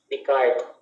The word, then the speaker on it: Descartes: Ang S, apelyido niya, dahil French siya, ay hindi pinopronounce ang S. Wala silang S. Kaya Descartes ang basa dyan. Walang S. Okay? So, yung spelling ng pangalan niya, Descartes, pero hindi mo siya basahin yung S. Kasi silent S sa kanila.